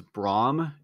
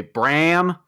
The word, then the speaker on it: Brahm: My last name is Brahm, and it's spelled like Johannes Brahms, and people constantly say Bram.